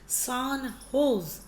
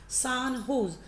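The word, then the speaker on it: San José: State university सान जोस, which is spoken as pronounced as सान होज के नाम से इसे ऐसे बोला जाता है, सान होज।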